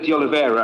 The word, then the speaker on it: De Oliveira: Councillor just to say, Councillor De Oliveira, and that's how you pronounce it, certainly not a stranger.